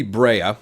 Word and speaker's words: Brea: to Dayton Sharpshooter Kobe Brea I believe is how you pronounce his last name br EA and when I say